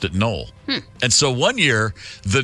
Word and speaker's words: Noel: was null n o e l but they pronounced at null and so one year the nolles went away